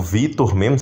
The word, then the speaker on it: Victor: pode ser pronunciado tanto como Victor, como Vitor mesmo, como se o C fosse mudo, que é o caso do meu tio, né, o Vitor Vidal. Tem um C no nome dele, porém se pronuncia Vitor mesmo, né, sem o C.